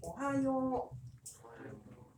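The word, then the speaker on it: おはよう: 그래서 한글로 다시 쓰면 오하요 이렇게 됩니다. 자, 네 박자입니다. 다 같이 오하요. 내가 되게 신비한 현상 하나 더 얘기해 줄게요. 자, 세 번 연속해보세요. 시작. 오하요 할 때요.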